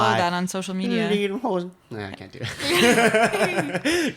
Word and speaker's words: Lederhosen: Lederhosen? Okay. We'll get you some lederhosen. The Somewhat proper pronunciation. Lederhosen.